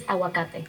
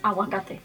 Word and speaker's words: aguacate: Aguacate. Aguacate. Oh, maybe it's just me. No, I think hers maybe softer. You don't pronounce the G sound.